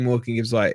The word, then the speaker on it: Morgan Gibbs-White: Look, we're not having I guess we are having we're critiquing Morgan Gibbs-White is the right way to say it, but honestly, it is getting frustrating.